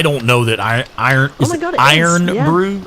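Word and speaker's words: Irn-Bru: know that i iron iron brew iron brew yes contains that i r n b i u e o i i'm gonna type it in the chat yeah that's how i've always heard it pronounced i do not know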